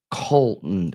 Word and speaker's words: Colt: It sounds like Cole or Colton or cold. I can't say cold. Like there's that Yeah. sounding name. Colt. C-O-L-T. Colt. My nephew. Colt. That's why it sounds like cold because I'm hearing it phonetically.